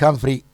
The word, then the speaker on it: Humphries: Yo siempre referencio que Humphries como Humphrey Bogart, pero con S. Ah, claro, Humphries, está bien.